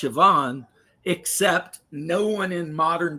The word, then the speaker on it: Siobhan: So, you see how it's spelled. Yeah. And then it's pronounced Siobhan.